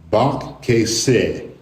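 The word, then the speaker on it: בכסה: And when it's pronounced together, it is bak keseh. Bak keseh.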